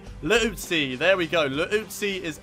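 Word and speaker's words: Liuzzi: That's how you say his name. Not Leutzi. Leutzi.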